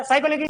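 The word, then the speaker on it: psychology: ऐसा नहीं होता अच्छा साइकोलॉजी की स्पेलिंग क्या होती है पीएस वाई से स्टार्ट होती है साइकोलॉजी है अभी साइकोलॉजी साइकोलॉजी यही पता नहीं पड़ रहा।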